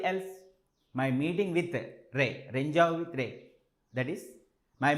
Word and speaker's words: Rendezvous: It is not the pronunciation which you think that some Renjavu, something like that. No, it is Renjavu. Renjavu.